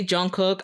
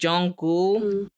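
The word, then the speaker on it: Jungkook: pronounce his name because when I read it in English I say Jung cook I do especially if I'm speaking fast I know you're not supposed to say it like that it's like Jung gou so I could read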